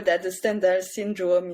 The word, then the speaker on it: Stendhal: He ST well STHENDAL, and he's a French writer, and he wanted his name to be pronounced Stendhal because it sounds like scandal in French.